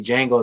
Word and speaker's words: Django: was making the jingle oh excuse me django the d is silent imagine i would have